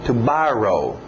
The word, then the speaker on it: borrow: outro Ok vamos ver lembra amanhã era tomorrow então mesmo som barrow barrow passado regular e no final eu coloquei só um D para vocês fazer a pronúncia só de um D barrow para naquele D barrow